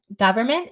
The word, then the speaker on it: government: One thing that's hard for Spanish speakers is a lot of the words where we use the vowel, as in cup, are spelled with an O, which is a nightmare. For example, government, they'll say government, or coverage, they say coverage Oh yeah.